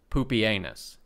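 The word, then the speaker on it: Pupienus: selecting the fantastically named poopie anus pronounced exactly like you are worried it is and baldness as co-emperors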